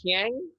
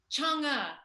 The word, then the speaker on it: Chang'e: And how you say it? Chiang? Pardon? Is that how you pronounce your character name? Chang'e. Yeah. Okay, so yeah.